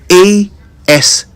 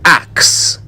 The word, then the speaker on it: ask: So let me ask you something. How do you pronounce ASK? The proper pronunciation of that word is ask, not axe.